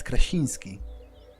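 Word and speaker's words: Krasiński: way they would in poland for example john krasinski they call him john krasinski but uh but in polish it's it's uh it's softer it's kracinski so uh i'm 24 i'm a student from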